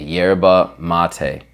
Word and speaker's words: yerba mate: With a Argentine accent, it's yerba, but super American or English, you would say yerba, right? YERBA, yerba mate. Boom. You'll never hear me say it like that again. It's yerba mate, okay? I want you to say it correctly too. Enhance your culture. Speak the way that it's supposed to sound, okay?